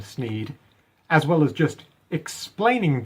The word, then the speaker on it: Sneed: the shop is called sneeds Feed and Seed where Feed and Seed both end in the sound e thus rhyming with the name of the owner Sneed the sign says that